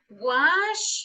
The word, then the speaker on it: wash: Okay, let me tell you that in simple form, en la forma base, este se pronuncia como watch, cha, cha, cha, como que nosotros decimos cha. Y este es wash, como que estamos haciendo el sonido de silence.